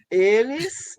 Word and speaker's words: els: Eles são parceiros na língua comum. A proposta é ilos são parceiros. Aí vem a outra, né? Pronomes não binários, els, aí tira a vogal, né? Se pronuncia el.